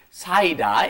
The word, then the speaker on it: 쌓이다: And the reason we had it was because I was pronouncing 쌓이다 wrong. You have to be very careful. Listen to Lisa's pronunciation. 쌓이다. 쌓이다. Yes, don't do the 쌓이다. It has to be 쌓이다.